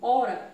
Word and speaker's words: hora: ela também tem h ela não tem som certo ó quando eu pronunciar essa palavra vir aqui ó ó e olha e vocês podem preste atenção vocês podem perceber que quando eu pronuncio hora esse hp ele não sai do só vagar não sai é quando vocês